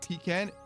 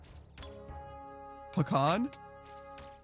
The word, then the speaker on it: pecan: Gerard says, I also swap between pecan and pecan.